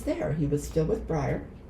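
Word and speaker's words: Breyer: I went breer or no I went um I went and pronounced it one way and he instantly corrected me. So what so Peter Stone was actually I called it. He says brier.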